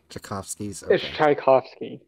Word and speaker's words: Tchaikovsky's: days previously was also retrieved excuse me it's pronounced Tchaikovsky's great I tried to do my Karen impression